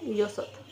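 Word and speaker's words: 여섯: एस की तरह लिखेंगे सिक्स धासत ये है योसत योसत यो सोत योसत सेवन इल्लगो इगो इल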